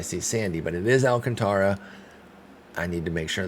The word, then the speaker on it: Alcantara: the Alcantara, whereas Sandy doesn't have that, so he's Alcantara. But I used to always say Alcantara when I saw that name. I just sounded it out. Then I learned about Alcantara as a pronunciation, so I thought that was the way to go.